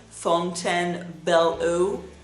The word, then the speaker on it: Fontainebleau: Some of their items are a little bit sweeter, but this collection, Fontainebleau, I pronounce it in French, Fontainebleau.